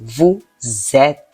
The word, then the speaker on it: vous êtes: a liaison there, and liaison makes the S. The previous word ends in a consonant, and the next word ends in a vowel. Then that S gives a Z sound when you pronounce it together. Thus, it is vous êtes.